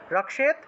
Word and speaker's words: রক্ষেত: ক্ষীয় যোগ তৎ, এইভাবে, তো ক্ষীয় থাকায় রক্ষেত উচ্চারণ হবে, রক্ষেত চামুণ্ডা শব বাহিনী বাহনা, চামুণ্ডা শব বাহনা, বাহনা, এইভাবে।